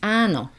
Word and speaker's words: áno: So yes in Slovak is áno. Áno. So it starts right from the beginning. There is a prolonged A with an accent.